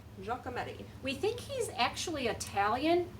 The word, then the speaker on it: Giacometti: I'm saying it right but I think it's Giacometti Giacometti we think he's actually Italian but he was